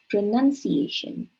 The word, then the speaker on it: pronunciation: have pronounce and pronunciation A lot of people say because they say pronouns they want to say pronunciation when they repeat that word but it is pronunciation it's not pronoun it